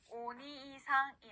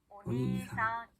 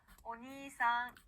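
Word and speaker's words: おにいさん: 자, 오빠, 형이라는 단어는요, 오니이상이 아니라 오니상 이렇게 니를 길게 늘려주시면 됩니다. 자, 발음 연습 같이 해볼게요. 오니상.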